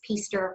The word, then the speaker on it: Pister: My name is Jennifer Pister, and that's Pister rhymes with Easter.